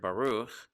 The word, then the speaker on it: baruch: to a close syllable we look at this word baruch it's the letter bait but with the kamats underneath it and that would give us the sound ba ba and then the letter